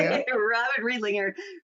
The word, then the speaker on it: Robyn Riedlinger: My guest today is Robyn Riedlinger. Did I pronounce that right? You did. Thank you. Robyn Riedlinger.